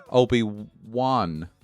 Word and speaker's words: Obi-Wan: But no, Obi-Wan. Woon, like maybe Woon, like Woon. I don't know. Like I don't know how I would spell it, but how was it? It's W-A-N, Wan.